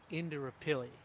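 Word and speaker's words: Indooroopilly: The way that it's pronounced is Indrapilli.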